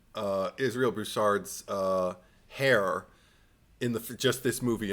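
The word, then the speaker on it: Israel Broussard: Israel Bouchard, yeah.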